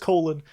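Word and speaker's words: Colon: And then there's Colin or Cologne. How did they pronounce it in the book? Colin. Colin, okay. So it is just Colin.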